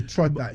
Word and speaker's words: Troptha: The Trotta. Yeah, I want you to spell it. TROPTHA. Okay. Trotta. The Trotta is the ta comes from the PTHA. The PTAH comes from ta as head creator, right?